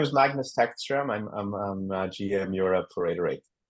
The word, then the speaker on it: Magnus Tagstrom: It's very difficult to pronounce his name. If you can help me out. Yeah. So my name is Magnus Tagstrom.